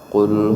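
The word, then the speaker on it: قل: di dalam surah al-ikhlas Qul huwallahu Ahad full Kita harusnya membacanya dengan of eh kita baca full cover maka jauh sekali artinya Bapak Ibu yang dimuliakan Allah kalau pun dengan covk maka artinya adalah Katakanlah tapi kalau full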